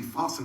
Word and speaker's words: fasten: to help you remember some tricky silent t's after tea listen for the whistle before you fasten up the castle and at bedtime use